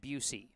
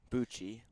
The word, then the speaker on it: Bucci: Head coach of the 18 and under Brookline summer baseball team is John Busey. Bucci. It's pronounced Busey.